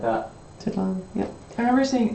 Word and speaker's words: Tenochtitlan: I recognize that, I don't know how to pronounce it. I've never heard it said. Tenochtitlan? Tenochtitlan. Something like that. Tenochtitlan, yep.